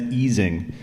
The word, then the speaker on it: Ising: a condensed matter person you pronounced ising correctly I never do that it's easing uh fun fact um yeah